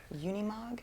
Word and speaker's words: Unimog: that a matchbox i'm gonna take a stab unimog on that bookshelf yeah i think that's right did i say it right yeah unimog yeah what's that he was talking about this